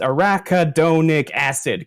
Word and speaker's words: arachidonic acid: Someone just posted the actual pronunciation. It's arachidonic acid. Correct.